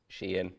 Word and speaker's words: Shein: Shein, I believe is the correct pronunciation, have just given individual